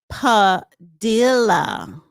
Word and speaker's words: Padilla: It's pronounced Padilla. Padilia. Padilia. Okay.